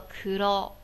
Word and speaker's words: 黒: 点，对，这个黑字读作一个クロ，クロ。